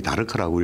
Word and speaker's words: DARC: 우리가 다르크는 약물 중독 재활 센터라 앞 글자를 따가 DARC 다르크라고 읽고요.